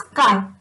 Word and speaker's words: chi: C-H-I pronunciation is chi. आपको ची करना है तो कर सकते हो, but practically it इज chi.